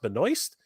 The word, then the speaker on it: Benoist: the that's correct and she says that her name is pronounced Benoist then I will definitely